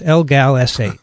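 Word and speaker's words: LGALS8: one they focused on is called algal s8 that we can pronounce l-gal essay also known as galectin-8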